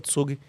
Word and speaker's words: Zug: Não, mas voltando, tem tem, por exemplo, tem um tem um cantão na Suíça que se chama Tsug, eh, se escreve Zug, tem tudo isso no livro.